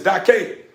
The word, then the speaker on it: Dake: He was like, man, you say it's Dake.